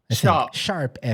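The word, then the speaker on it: ♯FE: Not hashtag, is Sharp. Sharp FE.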